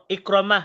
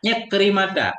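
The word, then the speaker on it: عكرمة: Kemudian kemudian mengeluar ianya Abu Bakar daripada th iqramah tak iqrimata. Iqrimata bacanya iqrimata.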